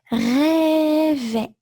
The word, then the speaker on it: rêvaient: But whether it's in the singular or in the plural, in the imperfect, the pronunciation is still A.